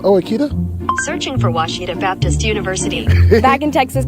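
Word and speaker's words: Ouachita: a Oita is it pronounced Oita searching for wasita Baptist University back in Texas everybody pronounces it witch but really it's wash was was how would you pronounce it wash wash it's was Baptist University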